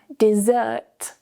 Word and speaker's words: dessert: However, dessert, dessert. The stress is now on the second syllable. And notice the change in vowels. when we move the stress, we of course need to change the vowel sounds to make them strong and weak. So we have desert, desert, and dessert. It's a longer vowel.